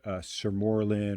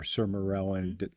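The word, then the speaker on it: sermorelin: I'm personally on a peptide called surorlin or serarellin. Different ways to pronounce it.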